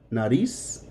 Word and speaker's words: nariz: It's not going to change the sound. Nariz, narices. The C and the Z are going to sound both like an S.